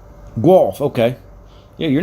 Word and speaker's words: Guelph: they got a terminal there in guelph gulf fiberfoil yeah i know you're probably wondering wait a minute boy down from the states and he pronounces that correctly glove yeah i drove for